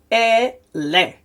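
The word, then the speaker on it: אֵלֶּה: So remember, this is a long E sound, short E sound. So it's ele.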